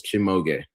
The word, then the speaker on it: Shimoge: It is 3 syllables. Shimoge.